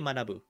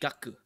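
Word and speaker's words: 学: the way um you don't say manabu um I probably butchered that by the way sorry um but you say gaku because it's paired with another kanji and then you go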